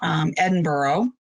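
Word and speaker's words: Edinburgh: correct pronouncing pronunciation of edinboro it's from scotland and airy needle losses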